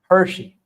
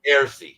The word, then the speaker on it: Heresy: I want to introduce you to I always get this guy's name wrong. Hershey. Hershey, right? Heresy. Heresy. Heresy. Well, it's Heresy. But he's got a great channel.